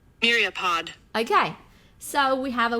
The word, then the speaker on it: myriapod: I would like you to hear how it is pronounced. Myriapod. Myriapod.